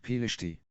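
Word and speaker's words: פלשתי: The word, pronounced Pelishti, refers to a Philistine person or someone associated with the Philistine people.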